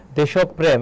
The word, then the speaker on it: দেশপ্রেম: বলো এবং এখানে দেখো দেশপ্রেম এর উচ্চারণটা গুরুত্বপূর্ণ যার সঙ্গে যে র ফলা থাকবে সেই বর্ণটা কি হবে দৃত্ত হবে তাহলে এখানে কি হবে দেশপ এখানে থেমেছে এজন্য হয় চিহ্ন আর বাকি থাকে কি প্রেম হবে দেশপ্রেম এটা হচ্ছে উচ্চারণ আর এখানে সঠিক উত্তর